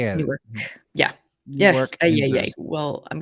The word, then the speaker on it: Newark: This is, I was probably pronouncing, this is happening in Newark, not New York.